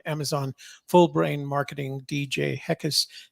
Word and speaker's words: Heckes: Full Brain Marketing, DJ Heckes. Heckes is spelled Heckes. So, Yep, like heck yes without the why.